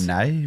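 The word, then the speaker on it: Pittonet: So they called him Pitten Yet. So I'm not sure if he's changed the way he wants his name pronounced, or we've been saying it wrong the whole time, or who knows.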